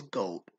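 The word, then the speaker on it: Gould: didn't think it was gold I thought it was like God or something or you know I thought I didn't think it was gold but it is pronounced Robbie Gold okay fine Robbie Gold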